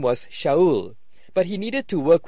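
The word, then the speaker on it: Shaul: Paul's name was basically a practical affair in aramaic his name was Showell but he needed to work with Greeks Greek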